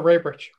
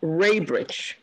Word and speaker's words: Rabrich: In favor, Rabrich. Rabrich. Man, after all these years, you guys are giving me all these problems. Hold on. And yours is pronounced Raybridge, Ray. Yes, like there's a Y there.